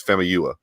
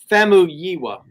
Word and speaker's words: Famuyiwa: It's Famuyiwa. Famuyiwa. No, that's wrong. It's Famuyiwa. I'm not touching it.